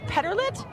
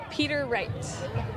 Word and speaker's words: Peter Wright: I might have been saying it wrong the whole week. Petterlit? Peter Wright. I was completely off.